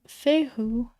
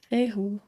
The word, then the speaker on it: Fehu: So if you look at it as 2 syllables, Fe and Hu, the Hu syllable means earth, and the Fe syllable means pay. Fe, Hu, pay.